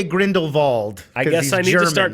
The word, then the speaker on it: Grindelwald: I went back and watch they do say Grindelwald I guess I should start calling him Grindelwald Grindelwald although and I was reading in the